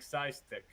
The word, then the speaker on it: PSISTC: It's PsiX vs PSISTC. PsiX vs PSISTC? Yes. Like Psystick. Yes.